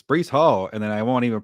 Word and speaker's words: Breece Hall: It's Breece Hall, and then I won't even pronounce the tight end. So I didn't say Breece Hall. My bad. I say Bryce Hall, but Breece Hall.